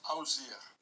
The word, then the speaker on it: Osiris: The name of Osiris was pronounced Ozir.